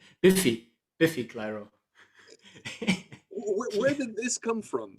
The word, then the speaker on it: Biffy Clyro: So, in the next band on your list is Beefy Clyro. Am I pronouncing it correctly? Biffy Clyro.